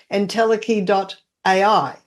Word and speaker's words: entelechy.ai: LinkedIn, and he's got his website, which is entelechy.ai. Yep. And let's spell it for people.